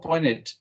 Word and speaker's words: pointed: Yeah, or pointed. También, also in English, when you have NT, normally in certain places you don't pronounce the T at the end.